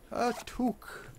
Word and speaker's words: toque: very good nope a toke toke that is how you pronounced it by the way it's too I am Canadian I'm an expert in these things I believe the toque